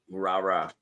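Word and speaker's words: Rara: Rah-rah.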